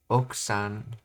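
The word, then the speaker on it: 奥さん: That's actually another example of how you, in a lot of words in Japanese you say in a flowy way instead of pronouncing them out. It's not okusan, it's oksan.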